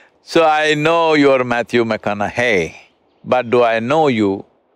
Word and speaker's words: McConaughey: the second name hey rhymes with what would madonna say so so i know you're matthew mcconaughey but do i know